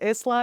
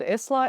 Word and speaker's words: Isla: that it's a Scottish word that is pronounced with the S being silent, and also I have since tried to like deduce why I said Isla, and I realized it's